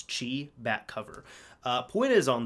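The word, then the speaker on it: χ: I believe you say Chi it looks like an X but I've been told it's pronounced Kingdom Hearts Chi bat cover point is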